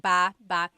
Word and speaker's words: baba: Ba ba. Emphasis is on the second syllable syllable. That means to go down.